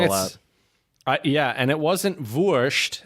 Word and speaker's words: Wurst: And it wasn't Wurst. It's Wurst. Ma Wurst. Wurst? You don't Wurst. But not Wurst. Right. I mean, you can still say it like that, but the Austrians would say Wurst. Wurst.